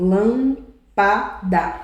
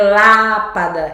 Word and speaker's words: lâmpada: Tá vendo? Não é lápada, é lâmpada.